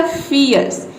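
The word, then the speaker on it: fierce: तो ये हो जाएगा फियर्स, या फिर इस तरह से भी आर को आधा भी रॉ प्रोनाउंस कर सकते हैं फियर्स, फियर्स। फियर्स मीन्स होता है भयंकर। तो आप आर को साइलेंट ही रखें, वो इसको प्रोनाउंस करने में आपके लिए आसानी होगा। जैसे कि देखिए यहाँ पे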